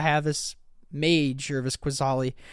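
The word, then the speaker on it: Qasali: this mage or this quizali quisali I can't say the ambusher a mage I was think how do you say that word casali casali yeah casali I was thinking of pride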